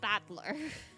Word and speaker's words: Battler: I can't remember fight in person and it's pronounced battler yep So here here's something for the GBF people.